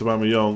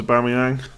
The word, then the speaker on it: Aubameyang: Just so you know, Aubameyang is pronounced Aubameyang. Yeah, I actually have heard that on a video. The problem is, for the last few years, I thought it was Aubameyang.